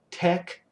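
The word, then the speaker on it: TeX: this requires extra software tech that's how this is pronounced like it's spelled t-e-c-k so tech so mick tech for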